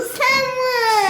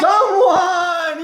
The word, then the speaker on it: someone: The E here is silent, so this E right here is silent, so some, and then we don't say that E.